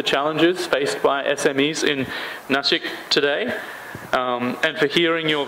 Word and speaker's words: Nashik: so much Mr Michael and you absolutely correctly pronounced nashik so we got really happy when you said nashik oh really I thought I would get some